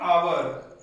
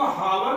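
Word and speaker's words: hour: एन आवर, एन आवर, अब इसको हावर नहीं बोलते हैं, ठीक है। इसमें एच जो होता है वो साइलेंट हो जाता है, जिसकी वजह से इसको हम लोग आवर बोलते हैं, न कि हावर, ठीक है।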